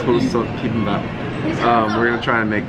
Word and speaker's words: Dolsot Bibimbap: Dolsot Bibimbap. Dolsot Bibimbap.